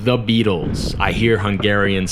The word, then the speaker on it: Beatles: another word that is very tricky to pronounce is beetles like the Beatles I hear hungarians say this all the time they say beatless beatless the beatless it's not the beatless it's